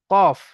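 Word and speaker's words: ق: ফা, ফা, এবং ফায়ের এক নোক্তা আছে, কফের দুই নোক্তা। কফ, কফ তিন আলি পরিমাণ টান হবে। কফ, এবং কফ উচ্চারণ করার সময় ঠোঁট দুটো গোল হয়ে যাবে।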